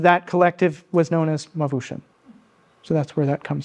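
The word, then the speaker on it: Mawooshen: So you pronounced it Mavushim? Mavushim. So it's spelled, and when I've seen it, M-A-W-O-O-S-H-E-N. So I've always just heard it in my head as Mavushim.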